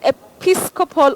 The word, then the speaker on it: episcopal: Moving on to this other word, episcopal or episcopal. You can say E, you can also say E. But what is important also for us to remember is we have the stress on the second syllable.